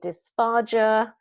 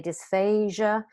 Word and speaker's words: dysphagia: a swallowing disorder um some people may say dysphagia some people say dysphasia what I would like you to be sure of though that you spell it with a G because it relates to swallowing and if you spell it with an a it may sound like it is dysphasia like aasia so we want to make sure that we do differentiate aasia which is a language impairment from dysphasia which is